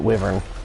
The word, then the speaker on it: wyvern: colossus see woman's wyvern I've always pronounced it wavern I guess it's either way I'm going to go